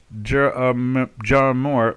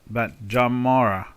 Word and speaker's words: Jamar: Pronouncing my name is not Jarmor, but Jamara is not EJ, it's JA.